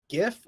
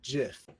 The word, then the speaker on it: GIF: statement or that like you're supposed to pronounce it like with a J like Jeff yeah but I will